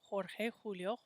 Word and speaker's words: Jorge: we play on thursdays jorge when we see that letter j in spanish we say it like a jorge juega excellente